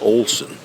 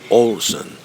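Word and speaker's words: Ålesund: You can see it's spelled Alesund, but the locals pronounce it almost like Olson. Olson.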